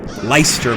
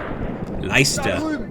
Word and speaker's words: Leicester: How do we have a guy named Lester in our army? That's Leicester, maybe. I'm using the English pronunciation. Leicester.